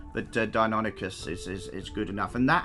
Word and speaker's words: Deinonychus: based their dinosaur on was something called a Deinonychus or Deinonychus. I'm not entirely sure how you guys would like to pronounce it. I've heard a few different pronouncements, but Deinonychus is good enough.